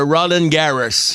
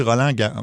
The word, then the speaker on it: Roland Garros: Il nous a envoyé couvrir le tournoi de Roland Garros. Je pense que tu prononces peut-être pas les mots... je pense qu'on dit Roland Garros.